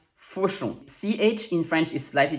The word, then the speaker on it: Fauchon: AU is one of the many ways we spell the sound O, and on is a nasal sound. Make the O shape with your mouth to achieve it. Try it with me. Fauchon.